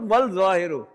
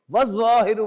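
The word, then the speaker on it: والظاهر: Not wal zahiru. Was zahiru wal batin.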